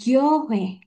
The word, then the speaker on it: 교회: Ini huruf G. Bawahnya ini huruf yo, jadi gyo. Terus ini huruf H. Dan kita punya OI, tapi bacanya W ya. 왜, Sam tulisnya gini aja W. Oke, jadinya gyohe.